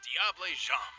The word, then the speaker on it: diable: pronounce important to recognize is diable also known as the devil so that's how you pronounce that okay incredibly high speeds